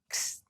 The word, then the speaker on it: ξ: like the X in the word fox. Ξ, ξ.